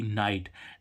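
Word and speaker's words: night: क्या होती है रात अब देखो इसमें जी एच एक साथ में आ रहा है तो यहां पर भी देखो यहां पर जीच क्या आना आना चाहिए था फा आना चाहिए लेकिन जी एच इसमें एक साथ आ रहा है तो यहां पर भी जीएच क्या हो गया साइलेंट हो गया नाइट मींस रा ऐसे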